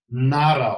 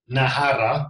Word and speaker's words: Nahara: So for all the people in Europe, we have Nara, or how they pronounce it, we learned it on the weekend. It's called Nahara, okay, which is actually a beauty drink.